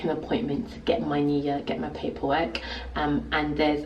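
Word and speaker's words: NIE: It's called the NIA, that's how they say it. And it's basically a national insurance number, and it's spelled with N.I.E.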